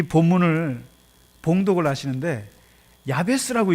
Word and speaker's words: 야베스: 근데 이번에 제가 이 본문을 가지고 어느 그 크리스찬 기업에 가서 예배를 드리는데, 그 어떤 분이 이 본문을 봉독을 하시는데 야베스라고 읽지 않고 야스베라고 읽는 거예요.